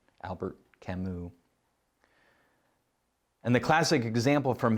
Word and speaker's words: Albert Camus: by the name of albert camus that's how you pronounce it it's french albert camus and the classic example